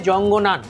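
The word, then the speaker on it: 藏南: এই নামে ডাকে মানে মান্ডারিন ভাষায় যেটা বলে সেটার উচ্চারণ অনেকটা এইরকম হয় জঙ্গনান এটা হচ্ছে আমাদের অরুণাচল প্রদেশের নাম এর মানে হচ্ছে দক্ষিণ তিব্বত।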